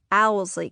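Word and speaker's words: Owsley: And that's how Alsley County is pronounced, Owlsley County. The order of the letters in the word doesn't really matter.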